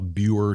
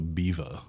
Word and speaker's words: Biewer: the Biva family, but it's spelled Biewer, but in German that's Biva.